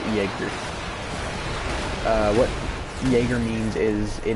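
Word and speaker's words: Jäger: a long time but the German word Jager and don't it may look like it says jogger or Jaykar music dagger it is pronounced Jaeger what Jaeger means is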